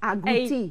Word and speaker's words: agouti: You have to say it correctly. Agouti. Agouti. Agouti. Yeah, agouti. Yeah. That's it, agouti.